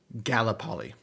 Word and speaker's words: Gallipoli: let's see did I spell that right ga g-a -l-l-i-p-o-l-i pronunciation Gallipoli gallopoly okay I'm going back resuming I see the